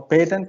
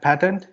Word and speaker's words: patent: So it has actually 2 pronunciations. So patent is the English pronunciation and patent is the US pronunciation.